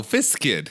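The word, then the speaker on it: Viscid: that we've played it is that pronounced like visc viid no viskid I mean it might be I you can say visc if you want but it's then you'd be wrong biscuit are you going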